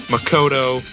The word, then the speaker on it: Makoto: for me not hipoomi you don't put the emphasis on any of them it's keeping me Mikoto etc it's not he foo me Makoto it's you don't you don't emphasize any of the syllables because that's not the way Japanese likes where she'd like me